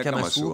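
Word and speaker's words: Akamasoa: né l'association à kamasoa qu'on prononce pas du tout comme ça en malgache un kamasu alors les français pour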